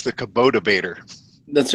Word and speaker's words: Kubota: It's the Kubota Bader.